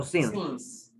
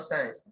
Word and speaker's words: since: ¿cómo se pronuncia science o since? Since, no science. Science es la materia de ciencias. ¿Ok? Ah, ok. Since is the correct pronunciation.